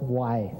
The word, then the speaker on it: way: they have shown that this glyph here is why is pronounced why uh the why means